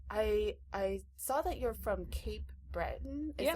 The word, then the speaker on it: Cape Breton: So I saw that you're from Cape Breton. Is that how you pronounce it?